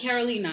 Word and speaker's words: Karoli Naa: Am I pronouncing that correct? Yes, it's Karoli Naa.